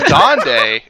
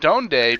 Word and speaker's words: Donde: he says okay so it's pronounced dande it's not donde because it's not where in spanish so it i don't